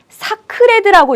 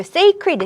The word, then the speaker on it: sacred: 이거 제발 사크레드라고 읽지 말라고. 이거 sacred, 신성한이라고 제가 여러 번 이야기했었는데 기억하시는지 모르겠습니다.